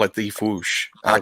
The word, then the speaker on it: Fwoosh: It's technically a sound effect. Like I can't. Technically, it's just Foosh. It's not, but people call it the Foosh.